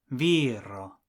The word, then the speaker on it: viro: For man, the last but one syllable is the first syllable, viro.